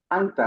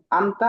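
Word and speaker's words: أنت: এটা কোন পার্থক্য না যেমন হাফ নুন জবর তা জবর তা আন্তা এরকম হওয়ার কথা ছিল এটা মূলত হবে একটু গুন্না হবে এই নাকের বাঁশি থেকে লুকিয়ে পড়তে হবে যেমন আনতা কেউ যদি আনতা বলে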